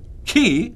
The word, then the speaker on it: Ki: Devon towns and project the first one key spell Ki is currently out in